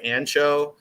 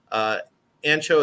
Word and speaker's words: Anxo: Like they were the first place I got to try Ancho. Ancho is spelled ANXO.